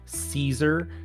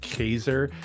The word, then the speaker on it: Caesar: Like, well, Kurgan is, and then also Caesar, which isn't actually pronounced that way. It's pronounced Kaiser.